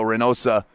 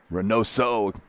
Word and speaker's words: Reynoso: No, that was number 2, Diego Reynosa. Reynoso, I'll say it right.